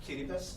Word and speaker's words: Kiribati: It's pronounced Kiribati, but the Kiribati.